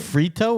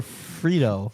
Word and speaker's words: Fredo: why did he h Frito or Fredo Fredo he liked uh why' you say it like that Frito fro he